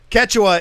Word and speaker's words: Quechua: day yeah i know quechua is how it's said that's the guy that's